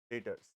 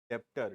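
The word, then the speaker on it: debtors: heading eight का ए डेटर्स बार-बार बोल रहा हूं don't pronounce as डेप्टर dept डेप्टर call it एज डे he silent है देखो फटाफट एट का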